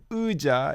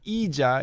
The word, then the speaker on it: 의자: So it's not 의자, it's not 이자, it's 의자. Yeah. 의자. and 이 in one syllable. So 의자, she did a fantastic job there.